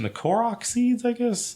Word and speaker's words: Korok: I think I'm going to butcher the pronunciation, the Korok seeds, I guess? Korok, yeah.